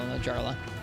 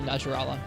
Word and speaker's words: Najarala: I have heard the horrors of Apex title Najarla. Or Najarala. There I am. There I go again. Najarla. Thought we'd gotten rid of that pronunciation.